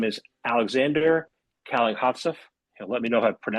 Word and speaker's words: Kalankhodzhaev: Yeah, it's pronounced Kalankhodzhaev, but I know it's very complicated, so no worries.